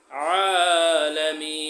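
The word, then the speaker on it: العالمين: এখানে আয়ের উচ্চারণটা গলা ডাবাই বলতে হবে এবং মিনে 3 আলিফ টান দিতে হবে। আলামিন।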